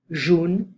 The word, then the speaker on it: jaune: So, les couleurs rouge, vert, blanc, jaune, bleu, orange, rose, marron, noir. So red, green, white, yellow. Be careful of this pronunciation. Jaune, like O, jaune, jaune.